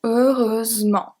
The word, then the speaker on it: heureusement: And it works as well for heureusement.